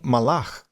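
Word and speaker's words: מלאך: Já em hebraico, você tem malar. Era assim que os judeus pronunciavam.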